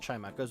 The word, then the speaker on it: Chimecho: Again, I've said Chimecho is like one name I've seen, or one way Chimecho's been pronounced, but it is Chimecho.